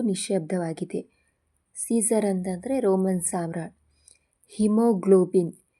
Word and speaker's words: haemoglobin: ಹಿಮೋಗ್ಲೋಬಿನ್. ಹಿಮೋಗ್ಲೋಬಿನ್ನಲ್ಲಿ HAEMOGLOBIN ಇದರಲ್ಲಿ ಎ ಅನ್ನುವಂಥದ್ದು silent ಆಗಿದೆ.